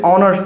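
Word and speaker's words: honours: সো আমরা দেখব উচ্চারণ শুরু হয়েছে অনার্স থেকে, তাহলে এইচটা বাদ দিতে হবে, মনে করতে হবে এখানে এইচ নাই।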